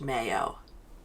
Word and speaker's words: Mayo: Actually, also, I said Josh's name wrong in the first episode. I said Josh Mao. It's Josh Mayo.